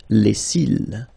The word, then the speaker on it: les cils: Final S not pronounced. Les cils.